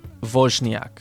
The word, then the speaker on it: Woźniak: All right, the surname Woźniak.